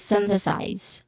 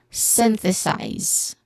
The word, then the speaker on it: synthesize: So, size, it begins with a hissing sound, letter S, followed by a diphthong I, and then a buzzing sound, letter Z at the end. So, all in all, this is synthesize. Again, synthesize. One more time. Synthesize. The stress is on the first syllable.